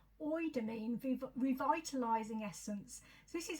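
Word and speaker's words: Eudermine: Okay, the next item is by Shiseido, and it's the it's not spelled like that, but I've looked up how to say it, and I think that's as close as I can get. Oidamine Revitalizing Essence.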